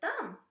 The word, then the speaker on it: thumb: And then that B is silent, like in the word thumb. It says, oh, climb on here.